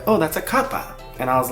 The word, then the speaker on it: kappa: about they were also Kappa Kaa Kappa Kappa I think it has like an accent on the first a but I might be